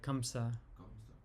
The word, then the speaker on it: Kamsa: K A M SA like who uh Krishna killed in my Torah. Yeah, different pronunciations depending on different different parts of India pronounce it different.